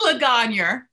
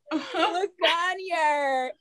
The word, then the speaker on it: Legangneur: Legangneur. Legangneur.